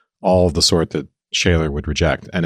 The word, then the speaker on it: Scheler: So shaylor, you know, that's the sort of German pronunciation.